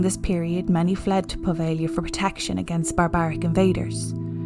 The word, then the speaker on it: Poveglia: But today I'm going to take you to Poveglia Island. There is a G in there, but I consulted my Italian friend and he said the G is silent.